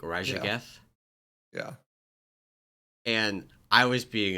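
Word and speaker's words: Raszageth: Side note: it annoys me so much that Blizzard uses the SZ like digraph, but they all of it is pronounced just Z. I love that. But like all the like That's actual true. the languages in the real world that use that digraph, SZ is like a ZH, like Yeah.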